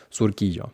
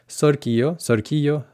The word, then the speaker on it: Surquillo: Y fíjate en la pronunciación, que no es Surquillo, sino Surquillo. La U en español es así.